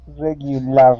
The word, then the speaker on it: regularly: Okay, regularly. Okay, now, with that AR here at the end of the word, we aren't going to pronounce that LAR, okay?